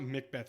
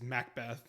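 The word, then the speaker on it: Macbeth: It's not Mc Beth, it's Mac Beth.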